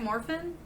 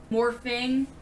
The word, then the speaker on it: Morphin: that is that right Morphin morphing like morphing into Morphin because we're trying to be cool right that's how you say it morphing so we're gonna watch Mighty Morphin Power Rangers cuz we're cool so we don't need the G at the end teenagers with attitude